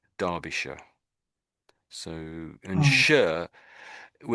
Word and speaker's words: Derbyshire: So we say Derby and then we say Darbisha. So, and sh we're saying sh for this last bit, but really that isn't really how you would spell sh if you're going to spell it.